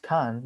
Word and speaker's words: Cairns: the city of the city of cairn pronounced khan deserved great gets a